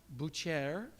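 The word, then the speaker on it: boucher: kamis uh these are butchers in Paris it's pronounced Bucher but they look really self-content they look very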